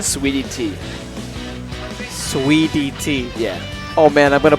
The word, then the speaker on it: Suidt: SweetyT.